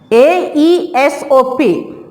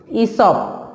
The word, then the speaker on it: Aesop: Actually, A-E-S-O-P, Aesop. We are not pronouncing that Aesop. We will pronounce that Aesop. E-E-S-O-P, Aesop.